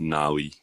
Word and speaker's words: Navi: okay and then yeah that's how it's pronounced gnarly but spelled Navi so again the zymusi